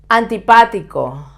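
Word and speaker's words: antipático: cheap barato always soft antipatico antibatico the opposite of sympatico again with an accent on this sea level so you you have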